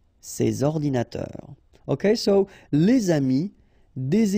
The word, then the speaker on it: ces ordinateurs: and then ordinateur, computers, so you should make the liaison between S and O, ces ordinateurs, ces ordinateurs.